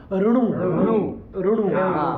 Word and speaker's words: ऋणु: ऋणु है ना। लोग रणु बोल देते हैं, उच्चारणार्थ र के बाद अ जोड़ देते हैं, लेकिन ऋणु भी बोल सकते हैं, इसमें भी कोई समस्या वाला नहीं।